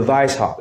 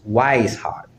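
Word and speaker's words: Weishaupt: so that's what brother Vice hop is the W when is in German it's pronounced with the letter V with the sound of the letter V uh I tend to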